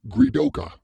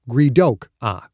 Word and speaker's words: Gredok: no longer i am gridoka she changed the pronunciation slightly gridok was now greedok the ah sound like